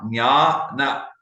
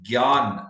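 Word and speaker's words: ज्ञान: So it basically is Nya, Nyana, Jnana, Dhyana. So that would be the right pronunciation. But some people say they have the g sound, gyan, like they say in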